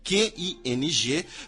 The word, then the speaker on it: Qing: a ascensão da dinastia Qing, Q-I-N-G, porém a pronúncia em chinês, se vocês quiserem ser puristas, é Qing, em 1644.